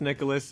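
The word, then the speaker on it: Nicalis: how the publisher Nicholas, and yes it is pronounced Nicholas, I did look it up, had picked up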